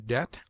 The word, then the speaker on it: debt: y of consonants B B has one unvaried sound such as it obtains in other languages it is mute in debt debter subtle doubt lamb limb Dum